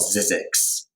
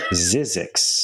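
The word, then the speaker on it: Zzyzx: His name's Gregory Halpern, and the book is called Zizix. How do you spell that? It's like ZZYX or like something like that. It's hard to... Zizix.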